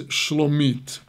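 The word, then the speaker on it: שלומית: But here, with almost the same spelling, but not quite, and a different nikud, a different vocalization, the name is Shlomit.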